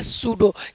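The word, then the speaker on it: pseudo: अगला रूल क्या कह रहा है? कि एन एस टी से पहले पी हो तो पी हमेशा क्या रहता है? साइलेंट इसको पढ़ेंगे सूडो क्योंकि यहां पर एस है और एस से पहले पी है तो पी क्या हो जाएगा साइलेंट हो जाएगा क्योंकि यहां पर एस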